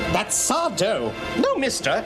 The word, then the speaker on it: Sardo: trying to correct the spirits on how to pronounce his name. Mr. Sel, help us. Help us. That's Sardo.